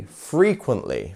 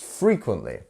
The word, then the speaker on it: frequently: grandparents a lot so where is our stress syllable here frequently three syllables where is the stressed one it's in the first one right free frequently frequently not frequ quently or frequently it's frequently and we also have